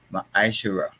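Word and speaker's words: מעשר: Malachi 3 8-10 and it means tent in the Hebrew and is pronounced ma iser 10% of every penny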